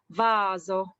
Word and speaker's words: vaso: as falso next when s is between two vowels and then this one we need to read a soft s for example rosa rosa vaso the the soft s